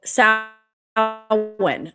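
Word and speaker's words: Samhain: So sin, that's how you pronounce sin.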